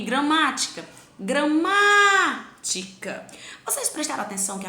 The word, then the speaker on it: gramática: Aí eu tenho gramática. Após a minha sílaba tônica, ma, eu tenho mais duas sílabas, o ti e o cá.